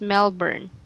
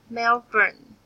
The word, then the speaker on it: Melbourne: she was home alone in Melbourne sorry it's pronounced as Melbourne Melbourne oh yes that's correct and the other word